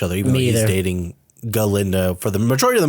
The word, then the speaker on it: Galinda: By Glenda now because the professor who was a goat pronounced her name Glenda instead of galinda and she's like I